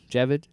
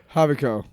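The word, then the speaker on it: Javicco: find out is uh is it Jebid? Jevid the emperor Havo. Havoc. What? Oh, there's a Jay. God, I'm so white. Uh, so he I and I say his name and I always see that J.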